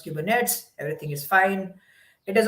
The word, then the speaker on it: Kubernetes: We are going to create our own application, deploy it on Kubernetes.